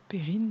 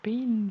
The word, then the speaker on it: Perrine: Perrine avec notre R à la française et ça faisait Pein, Pein, Pein.